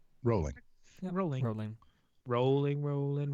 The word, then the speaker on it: Rowling: Her name is not pronounced Rowling, but everyone in the U.S. says Rowling. Rolling.